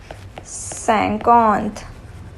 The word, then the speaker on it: cinquante: The word for 50 is cinquante. Cinquante.